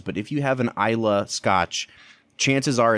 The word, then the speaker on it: Islay: is what's called an Isa whiskey it's it's spelled is l a y but it's not islay it's not ilay it's Isa and that is a